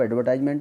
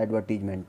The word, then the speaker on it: advertisement: इसको आप एडवर्टाइजमेंट बोल सकते हैं या एडवर्टीजमेंट, दोनों ही प्रोनाउंसिएशन उचित हैं इसमें।